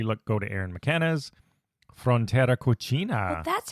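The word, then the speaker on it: Frontera Cocina: for that definitely look go to Aaron mckanas Frontera coina that's how you pronounce it yes the takaria and Salada so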